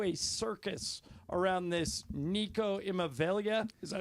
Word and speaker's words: Iamaleava: to devolve into a circus around this Nico Iamaleava? Is that how you pronounce it? Iamaleava?